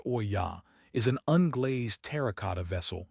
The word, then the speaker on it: olla: An olla, pronounced o-ya, is an unglazed terracotta vessel buried in the soil with just the opening above the surface.